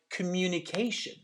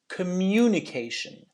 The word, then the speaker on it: communication: you hear the difference same thing for a word like communication right which is the word we use a lot communication not communication can you hear that difference yeah this is something